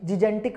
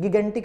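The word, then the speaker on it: gigantic: देखो इसको ना हमारा मन करता है जिजेंटिक बोलने का, जिजेंटिक नहीं है, गिगेंटिक है।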